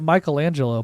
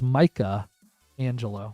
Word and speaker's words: Michelangelo: And its name is, he named it Michelangelo, but when he got it, he pronounced it weird. So it's Micah Angelo, which I think is really funny.